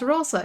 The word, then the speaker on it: rosa: Oh my god, I'm so bad at pronunciation. Yeah, it's Rosa.